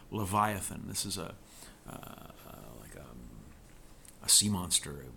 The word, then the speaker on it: Leviathan: note lesson I think in English is pronounced Leviathan this is a sea